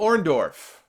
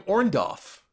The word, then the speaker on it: Orndorff: probably turned on Hogan because Hogan could never say his name the correct way he always called him or Dolph totebag and watching Hulk Hogan promos after Orndorff turned on him keeps calling him orand off he just couldn't he